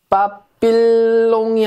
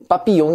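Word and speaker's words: papillon: 뭐냐 명 자 보세요 빠삐에 영이 아니라 빠삐용 이라고 하죠 이게 웃기는게 l 이 두개가 있으면 y 발음이 됩니다 우리가 황 써 발음이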